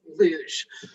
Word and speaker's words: luge: have to uh just correct you on the pronunciation of my sport which is luge so uh on that on that note um